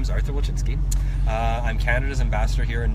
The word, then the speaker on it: Wilczynski: My guest today is the Canadian ambassador to Norway, Artur Wilczynski. Hi. Did I pronounce it correctly? Yeah, that's great. Wilczynski?